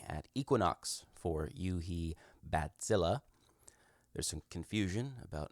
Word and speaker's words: Bazille: we are looking at Equinox for you he bat Zilla there's some confusion about how the title of this synth is pronounced it is bat Zilla as in a giant mutant bat that terrorizes